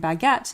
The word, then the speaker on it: baguette: The U after G in baguette is what turns it from a soft G to a hard G.